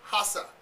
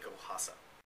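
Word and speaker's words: Koral: The Vulcan, Gameness Pearl, and Hasa. Is that pronounced right, Dave? Yeah, that's right. Most people think it's Kiko Raka, but the actual Brazilian or Portuguese pronunciation is Hasa.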